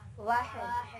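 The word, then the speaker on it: واحد: Wahid.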